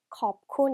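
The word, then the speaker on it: ขอบคุณ: 고맙다는 태국말로 컵콘 이렇게 발음해요.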